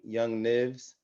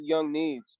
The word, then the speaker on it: Young Needs: have we have young young nibs yes sir yes sir did i pronounce that right i don't want to mess with nobody no it's actually young needs but uh yeah i